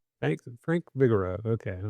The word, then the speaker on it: Frank Vigoroux: But need to make sure that I get the correct pronunciation of your name. So could uh, give that to me here. And Frank Bigo. Thanks. Frank Vigaro.